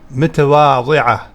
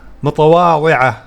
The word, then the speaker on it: متواضعة: أنتِ إنسانة متواضعة. This word is a little difficult to pronounce in English. You can instead use a D. متواضع. Okay, but the correct pronunciation is متواضعة.